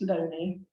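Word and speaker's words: Looney: lonely questions unfortunately spelled Mooney but his it's pronounced lonely and um his inquiries appear to be strongly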